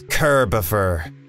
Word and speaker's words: Kerber: her here beaufort gopher it's kerber it's like christopher but kirby ah can i call